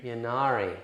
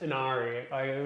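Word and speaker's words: Ynnari: Also, it's I'm pretty sure it's pronounced Anari. We've had this this I'm on the Anari side, not the Yinari side. like we don't need the extra. We want the sushi. Shouldn't have put a Y in it then.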